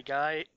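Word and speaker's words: Gaige: is I overleveled my gage g I still don't know how to pronounce her name it's Gage it's Gage Gage look well I have I'm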